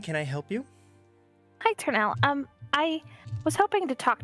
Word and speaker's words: Ternal: I don't want to pronounce it wrong. Ternal? Oh, Ternal.